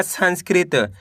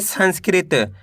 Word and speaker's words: संस्कृत: ऋ की मात्रा कृ त मिलके बन जाएगा संस्कृत कैसे पढ़ेंगे संस्कृत म में ऋ की मात्रा मृ त ज